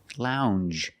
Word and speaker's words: lounge: Lounge. It makes the regular N, plus the J. Lounge. It follows the same pattern as orange and change.